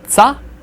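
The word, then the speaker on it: ц: T plus S put together. Remember that strange looking one with a tail hanging off the end. So you get a tsa. And tseya will also be pronounced as tsa if you ever see it written that way. So, always harsh, always tsa.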